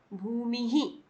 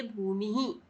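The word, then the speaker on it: भूमिः: भूमि ही, यानी मी माँ में ई, तो इस हलंत में भी, सॉरी, इस विसर्ग के चिन्ह को भी हम ई के प्रोनाउंसिएशन के साथ बोलेंगे, बोलेंगे भूमि ही।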